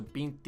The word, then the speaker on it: vinte: How do I forget that the T E or the T I is a ch sound.